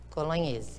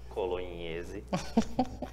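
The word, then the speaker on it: Colognese: Colonese vou soletrar s c o l o g n é s&p colonhese e é bom gente esse foi o podcast com incrível colonhese é assim que se pronuncia esse nome não é como ler não inclusive vamos ficar de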